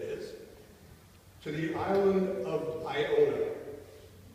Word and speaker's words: Iona: To the island of Iona. Iona is spelled I-O-N-A. It's not Ionia.